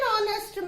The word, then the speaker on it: honest: An honest man. You are not saying honest. H is not pronounced.